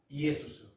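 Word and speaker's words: Ἰησοῦς: 자, 여호수아라는 이름이 헬라식 발음으로 어떻게 발음합니까? 이에수스.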